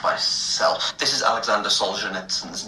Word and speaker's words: Solzhenitsyn: So the author's name is Solzhenitsyn.